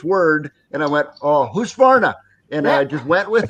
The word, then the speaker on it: Husqvarna: new robotic mower, it's in English, but the pronunciation is 100%. Cool. It's Husqvarna.